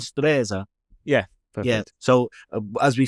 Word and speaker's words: Stresa: And the name of the place that I won't pronounce because I was told indefinitely that uh I was pronouncing it wrong by by our Italian host here. It's Stresa. Stresa. I was calling it Stresa, but that's only because I went on Wikipedia there.